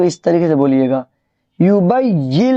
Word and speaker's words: يبين: طریقے سے بولیے گا، یبین لنا ما ہی، یہ جو نون ہے نون نہیں پڑھیں گے۔ دیکھیں میں ہجے کر